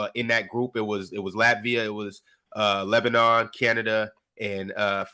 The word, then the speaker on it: Latvia: Latvia or Latavia? How do you say that? Latvia.